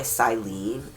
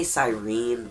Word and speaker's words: Sirene: three times a week he's lured in by silene now it sounds like they say sirene but the name isene okay um you're just